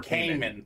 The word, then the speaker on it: Kamen: Chris Kamen was sixth. Yeah, or Kamen. Chris Kamen, like me. Yeah. I like that better. Better way to pronounce that name.